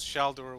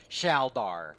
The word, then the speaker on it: Shor: Maul back to life very very important that he be called Shor and not some cutesy name that you guys or pronunciation that you guys have like shalar or some [ __